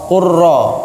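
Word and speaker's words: قل رب: Qul rabbi, berarti lamnya kan hilang. Ya enggak? Dianggap seperti hilang, langsung qaf ra, qurra.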